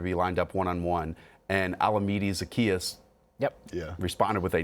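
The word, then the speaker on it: Olamide Zaccheaus: james brad would be lined up one-on-one and alameda zacchaeus yep yeah responded with a 91 yard pronounce that correct by the way olamide zacchaeus pronounce it right proud of you um and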